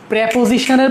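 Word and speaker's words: preposition: প্রেপোজিশন, এটা উচ্চারণ প্রিপোজিশন না, প্রেপোজিশন। প্রেপোজিশনের পরে আইএনজি থাকলে ওটা জেরান্ড, প্রেপোজিশনের পরে আইএনজি থাকলে এটা জেরান্ড।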